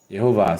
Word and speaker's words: Yehovah: For example, Adonai, when we compare to the Tetragrammaton, Ye, Shiva here is an E, the sound of E.